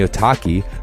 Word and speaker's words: Otaki: And the Otaki, rhymes with souvlaki, is an aggressive high-performance shoe designed to hold the downturned shape even after repeated lashings.